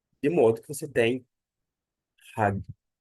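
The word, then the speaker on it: ἁγίου: marcar a sílaba tônica você não vai pronunciar hagiu não por causa de quê Porque a sílaba tônica está aqui a aa essa aqui ó tônica de modo que você tem ragu ragu ragu é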